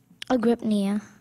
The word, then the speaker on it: agrypnia: Am I saying it correctly? I think so. Say it again, please. Agrypnia. Yeah. Sounds right.